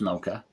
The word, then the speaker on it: Moka: going to say miss mocha i want to say it like miss mocha because i think that's the right it's more of a